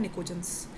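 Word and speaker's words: pnictogens: नहीं इन्हें बोलते हैं निकोजंस। जिसमें पी साइलेंट रहता है।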